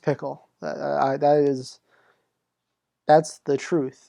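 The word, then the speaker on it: Phichol: i did with levi but it's pickle it's pickle rick it is pickle uh what do i do it's pronounced pickle that is that's the truth that's um yep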